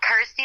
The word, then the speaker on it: Kirsty: and of course obviously it helps that it's you know rhymes with my name and helps people pronounce my name correctly so I'm like cool Kirsty like thirsty got ity like thirsty